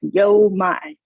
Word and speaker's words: YoMind: There's several interpretations, but it's like Yo Mind.